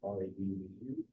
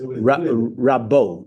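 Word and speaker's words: רבו: To understand the difference between Kaballah and Rabu, there's actually a text about Rabu, R-A-B-U. How do you say that? I am not Rabu. No, so it is. Rabbo in Hebrew.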